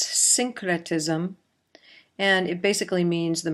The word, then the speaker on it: syncretism: This is pronounced syncretism, and it basically means the merging of various characteristics.